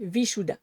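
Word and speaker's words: Vishuddha: Donc si est la prononciation exacte, vous pourrez aller voir des gens justement qui ont une langue qui se rapproche beaucoup plus du senserie que le français mais ce serait vichoua.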